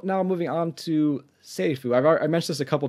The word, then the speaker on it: セリフ: R and L and the F isn't really English F it's more of like in between an F and H so and my pronounce